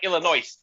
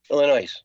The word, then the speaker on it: Illinois: That's almost like Illinois. Illinois.